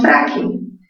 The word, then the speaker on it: frágil: ¿Dónde tiene mayor fuerza de voz frágil? En la sílaba fra, ¿sí o no? En la sílaba fra. Entonces, frágil es una palabra grave.